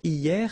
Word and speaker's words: hier: Hier means yesterday, okay? Hier. So remember, this H here is not pronounced, okay? So hier.